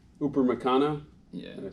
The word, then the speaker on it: Upamecano: I always get his name wrong. Upamecano. Yeah. Did I say it right? Not Upper Macano.